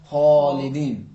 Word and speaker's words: خالدین: جہاں سے حرف غین ادا ہوتا ہے. تو اس مثال حرف خا کو تلفظ کریں خالدین.